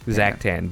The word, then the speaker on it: Zactan: Zactan.